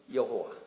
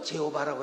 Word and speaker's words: 여호와: 영어로도 여호와 할 수 있고, 근데 영어는 또 제호바라고 해놨대. 참 신의 이름을 너무나 정확하게 부르는 건 굉장히 중요한 겁니다. 그래서 여호와, 하는데 여호와, 그래서 여호와 정확한 발음으로 여러분도 부르시고, 그 뒤에다 하나님이라고 부르는